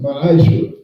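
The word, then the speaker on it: ma'aser: Means 10th in Hebrew and is pronounced ma'ashra.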